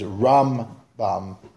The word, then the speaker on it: Rambam: By the way, the way to pronounce them is Rambam. Put the pronunciation of Rambam on the first half of the word, and Ramban, put the pronunciation on the ban, so you can hear Rambam, Ramban.